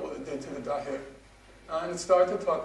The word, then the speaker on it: Dahya: I thought it was Dahya, but Dahya, right? Is that correct?